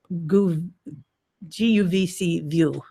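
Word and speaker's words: guvcview: it's a webcam program yes it's goo guvc view I always use cheese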